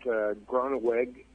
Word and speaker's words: Groneweg: I thought Groneweg, that's how you pronounce his name, looked really good as a punt returner.